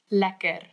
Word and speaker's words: lekker: Lekker.